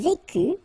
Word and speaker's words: vécus: Je vécus, tu vécus, il vécut, elle vécut, nous vécûmes, vous vécûtes, ils vécurent, elles vécurent. Okay, so one more time. Je vécu, final S not pronounced.